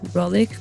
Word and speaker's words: Rohlik: You are the head of the strategy of Rohlik Group, and I'm pronouncing it correctly.